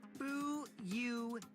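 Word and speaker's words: Fuyuhiko: My first name is pronounced Bu Heo.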